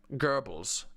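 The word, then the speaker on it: Goebbels: I talked about this Gerbes is how it's pronounced Gerbes geres his BFF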